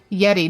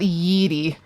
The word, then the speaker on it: Yeti: For your information, it's pronounced Yeti, not Yeeti.